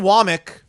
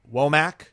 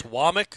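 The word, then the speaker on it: Wommack: Kane Wamik, which by the way, by the way, the last name is spelled W M A C K, which most people would want to pronounce WAC.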